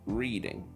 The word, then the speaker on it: Reading: They arrived in Reading, a city Devon kept mistakenly pronounced as Reading.